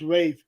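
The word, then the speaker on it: Ralph: yeah yeah um well no I think it's pronounced Rave Rave fine refines yes that's the guy that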